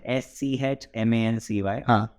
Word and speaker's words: Schmancy: I mean for me it's very difficult to pronounce yes manzi mancy again sorry spell s c h m a n c y s c h m n c y schmancy